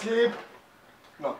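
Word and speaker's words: Slipknot: fuck sleep η sleep sleep not έχεις δέ κάτ ξέρει sleep not sleep not sleep είναι sleep not το κ δεν προφέρεται άμα δεν ξέρεις αυτή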